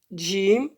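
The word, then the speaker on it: ج: Jim, on appuie sur les dents, à côté. C'est pas en avant, c'est à côté.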